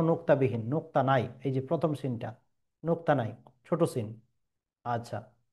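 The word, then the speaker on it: س: ছোট সিনের উচ্চারণের ক্ষেত্রে মনে রাখবেন যে সিটি টাইপের একটা আওয়াজ বেরিয়ে আসবে মুখ থেকে।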